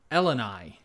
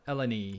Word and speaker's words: Eleni: Connor that's fine but I pronounced Eleni not elanie oh El um what